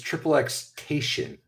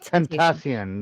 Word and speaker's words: XXXTentacion: It's XXXTation. No, it's Tentacion.